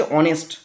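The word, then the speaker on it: honest: এর উচ্চারণটা হচ্ছে অনেস্ট, অ দিয়ে শুরু হচ্ছে, হ দিয়ে হয়নি। যদি হ দিয়ে হতো তাহলে বসতো এ, আর অ দিয়ে হয়েছে বলেই অ্যান বসেছে।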